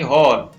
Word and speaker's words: whole: इसी प्रकार W silent रह गया तो इसको पढ़ेंगे हॉल, WHOLE हॉल।